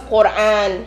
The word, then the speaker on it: Quran: By the way, it's Quran, Hajj, and Allah.